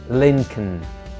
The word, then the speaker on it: Lincoln: Lincoln a car and a city anyway don't pronounce the penultimate Lincoln Landon the global number one tourist destination is